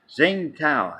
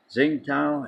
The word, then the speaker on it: Tsingtao: Tsingtao, I think it's pronounced.